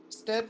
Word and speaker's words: Stead: 86 the other 92 de steeve it's dead stead wrote two stories that had striking similarities to